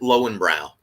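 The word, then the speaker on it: Löwenbräu: a big fan of luvembra or in america most well people pronounce it low and brow right i love that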